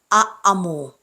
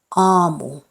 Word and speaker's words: aamu: If you see two of the same letter, they are not pronounced individually. Like in double vowels, you have to prolong its pronunciation. Like in these words, it's not aamu, tekee, hiiri.